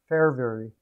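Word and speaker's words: Fehérváry: i didn't talk about for havey for havey oh my gosh or for her is that is that how you say it the hair very fair very fair very that's it heard it last night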